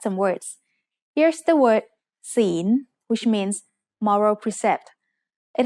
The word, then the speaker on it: ศีล: The final consonant is ลอลิง which makes a sound like the letter N in this position. ศีล is said with a rising tone because it has a high-class consonant with a live syllable ending.